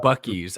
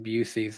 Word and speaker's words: Buc-ee's: He probably still pronounces it like Busey's, like I did.